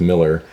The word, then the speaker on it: Mueller: And it looks like Mueller if you see it on print, but it would have been pronounced Miller. So not M-I-L-L, but M-E-U-L-L-E-R.